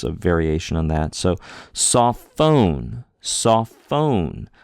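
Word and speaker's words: σοφόν: So sophone. Sophone. We put a little more oomph on the phone syllable, right? Saw is the first syllable, saw, and then phone. Phone is the second.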